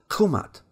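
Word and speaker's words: Kemet: Scholars think maybe the original pronunciation of the word was Khumat.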